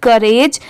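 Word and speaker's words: courage: सी ओ यू आर ए जी ई करेज। यहां पर सी ओ यू इसकी साउंड क्या आ रही है?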